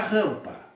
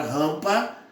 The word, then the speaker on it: rampa: Eu só pronuncio o P, mas o M não. O M é apenas um nasalizador desse A aqui. Então, nesse caso, na palavra rampa, eu vou ter que o AM é um dígrafo vocálico.